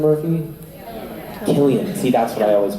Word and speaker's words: Cillian: Cillian Murphy? Killian.